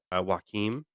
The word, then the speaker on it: Joaquin: I'm going to pronounce his first name wrong. Joaquin. Maybe I said that That's right. correctly. Joaquin Yeah.